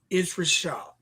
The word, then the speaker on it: ItsRvshvd: And it's at It's Rashad, but it's spelled ITSRVSHVD. It's Rashad.